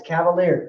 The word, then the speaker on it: Cavalieri: If you didn't know how to pronounce that, it's Cavalieri. It's just like Cleveland Cavaliers.